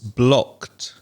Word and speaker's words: blocked: of the verb block it's blocked when you have a c sound a voiceless sound at the end of a verb then the ed ending sounds like a t sound